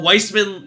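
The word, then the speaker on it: Weissman: Uh, Wiseman, not Wiseman. Yeah, it's weird. It's spelled white like I'm pretty sure it's pronounced wise man, but it's spelled like white man, which I'm like, I don't know about that.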